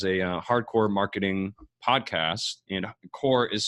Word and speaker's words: Corps: hey it's hardcore marketing it's spelled like the Marine Corps not the earth core mm-hmm and a guy